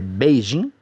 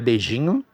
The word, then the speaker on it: Beijing: Falando um pouquinho aí da capital da China, Pequim, que na pronúncia chinesa é Beijing, ok? Não é Beijinho, é Beijing.